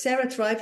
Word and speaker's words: CeraThrive: questions yeah so it's Sarah Thrive like you say it's spelled like the brain way so it's c r a Sarah Thrive like Sarah Bellum or cerebral and everything comes to me